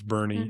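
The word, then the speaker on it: Boerne: It looks like Bourne. Burn or something like that. Yeah. But it's Bernie.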